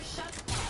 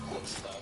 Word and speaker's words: chutzpah: One lawmaker says it is, quote, sheer shuts-off for the daily fantasy sports sites to pretend the law makes them legal. Okay. First of all, shuts-off is actually pronounced chutzpah, but the idea that daily fantasy sites are